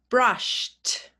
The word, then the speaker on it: brushed: Brushed, b-r-a-sh-t, brushed. So it's spelt the same, but we say t instead of id.